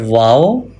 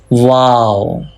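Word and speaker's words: واو: We learn from letter Waw to Ya, inshallah. Today our first letter is Waw. Wow. Wow. Wow can be pronounced by rounding the lips.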